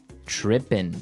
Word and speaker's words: trippin': As you notice, It's trippin'. It doesn't have the G at the end, which isn't really grammatically correct, but that's kind of the way it's pronounced. Yeah, we would never say the G.